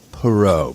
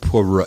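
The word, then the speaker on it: Poirot: say his name right pero Puro it's more of a PR H PR H you you can't say that without pursing your mouth you know anyway I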